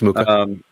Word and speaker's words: Mucha: So you're That talking was about like Alphonse Mucha, or how do you pronounce his name? Mucha? Alphonse Mucha? Yeah, it's Mucha.